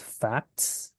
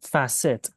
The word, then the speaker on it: facet: thank you Eric I did notice that you pronounce this word as facts it's facet remember so it would be said as facets